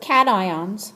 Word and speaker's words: cation: there's what are called cat ions so even though it looks like one word put together you do pronounce them each separately A cation is an